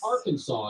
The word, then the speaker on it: Arkansas: Old West Oh Arkansas you better pronounce Arkansas correctly or risk breaking the law are you kidding me no more funny accents it's Arkansas y'all it's dumb California got